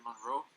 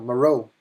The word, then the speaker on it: Moreau: Monroe. Moreau. He was like the original director. Yeah. Did I say it right? No. No, Moreau.